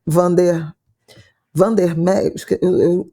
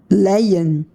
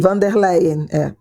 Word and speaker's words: von der Leyen: centro com a Ursula von der Meyer, a Isabela que tinha que pronunciar, porque ela é alemã, né? Ursula von der Meyer, é isso? Leyen. Não tem M. Von der Leyen, Embora o campo, né,